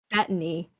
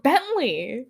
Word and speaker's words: Bettany: Well, how do you pronounce it? Bettany. Oh, it's Bettany? Yeah. I thought it was Bentley.